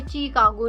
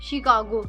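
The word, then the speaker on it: Chicago: यहां पे चीकागो नहीं शिकागो। इंग्लिश के स्टूडेंट्स हैं then you have to pronounce your words properly.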